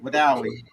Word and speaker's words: Wedowee: So here's one. It's spelled Wedowee. They pronounce that W-E. they pronounce it Wedowie.